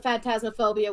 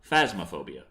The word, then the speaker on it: Phasmophobia: Oh, goody, now you can do longer sessions of Phantasmophobia with me and Grim. Phasmophobia. I'm saying it wrong to annoy you.